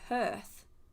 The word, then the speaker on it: hearth: I say it like earth with a H in front of hearth.